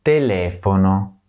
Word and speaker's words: telefono: the letter I is always pronounced E, as in panino, and the letter E is always pronounced as E, as in telefono.